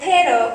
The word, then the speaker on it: perro: So I go to my daughters and I say, Mija, do you want mamacita to make you a perro caliente? Now, you did not roll your R correctly, and therefore, instead of offering a hot dog, you offered a hot fart.